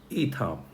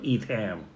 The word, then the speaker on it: Itham: Let's also look at this fellow, the fire epic Itham or Etham or Itham, whichever way you want to pronounce, depending on which part of the world you are.